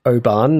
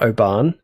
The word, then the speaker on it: Oban: It's pronounced Oban, not Oan.